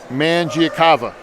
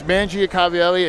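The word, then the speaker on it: Mangiacavalli: you're speaking of it was um man giacava I didn't want to imagine I didn't want to butcher it no it's Mangia Cavalli and then I I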